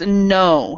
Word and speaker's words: know: Yeah, and for this one it's no, so the K is silent.